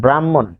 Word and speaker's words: ব্রাহ্মণ: তারপর আমরা আরেকটি বিষয় লিখবো যেমন ব্রাহ্মণ ব্রাহ্মণ এটি ম এর মহাপ্রাণ রূপ এতে ম দুইবার উচ্চারিত হয় তারপর এটি ম এর মহাপ্রাণ রূপ দুইবার উচ্চারিত হয়।